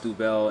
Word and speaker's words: Duvel: the day is here comes double obviously it's pronounced duvel in france and uh belgium but this is